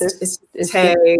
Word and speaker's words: Taye: It's just Taye, or somebody tries to add like an accent on the E. It's Taye.